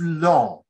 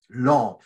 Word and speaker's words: Laon: Another thing, it is it was close to Laon, Laon, which is spelled l a o n, Laon.